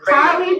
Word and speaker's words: Halle: You have to pronounce her name correct. Miss Halle Bailey.